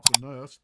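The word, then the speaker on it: Alkonost: All right, now since we got the alanist or alenist, that's how it's pronounced.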